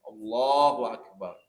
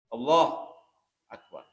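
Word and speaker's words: الله أكبر: Jadi harus tepat bacanya. Allahu Akbar. Allahu Akbar. Dan tidak boleh diputus. Allah Akbar. Allah Akbar. Nah itu nggak boleh.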